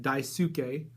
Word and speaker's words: Daisuke: I believe that's how you pronounce it, Daisuke, D-A-I-S-U-K-E, Daisuke, which I believe last issue would have been his first appearance then.